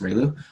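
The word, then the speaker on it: ReLU: steeper rail ooh a inverse tangent but then Rayleigh right here right this guy right here rectified linear unit which is pronounced riilu you'll see it basically zero and then one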